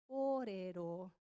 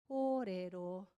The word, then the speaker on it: kōrero: So the macron over the O, longer sound, kōrero, kōrero.